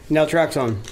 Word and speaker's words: naltrexone: What is the pronunciation? It's called the naltrexone? Naltrexone.